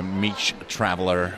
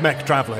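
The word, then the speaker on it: Mech Traveller: two else emmys yes m-e-c traveler very british met traveler this is something oh did i say it wrong i said yes no it's it's mech traveler yeah yes traveling mechanical travel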